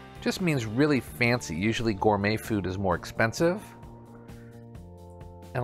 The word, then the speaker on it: gourmet: Number 14 is gourmet. It's another French word that we use in English. Gourmet. Just means really fancy. Usually gourmet food is more expensive.